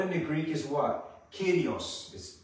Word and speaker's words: Kyrios: Kyrios. In English, you kind of spell it K-Y-R-I-O-S, but it's not the Greek letters, but it's pronounced Kyrios, which means what?